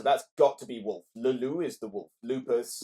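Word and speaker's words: Le Loup: No, it's Leloup.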